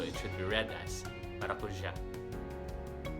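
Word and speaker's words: maracujá: Like the passion fruit, maracuja. Maracuja has 4 syllables. Maracuja. The ja, the last syllable, has an accent mark on the letter A.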